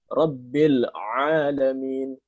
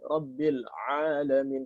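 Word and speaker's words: رب العالمين: Jadi yang benar harus dibaca ainnya orang Arab. Rabbil alamin. Alhamdulillahi Rabbil alamin. Rabbil alamin.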